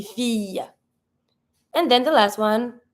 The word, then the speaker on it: fille: Every time you have the double L, it's not going to be fil, it's going to be fille.